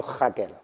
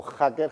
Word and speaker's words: hacker: charla decir cosas como hacker hackear hackeo y hackeando vale siempre y cuando pronuncie la J con fuerza de las dos definiciones